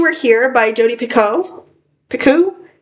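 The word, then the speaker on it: Picoult: Picu. How to pronounce that name, too. Okay, it's pronounced Pico.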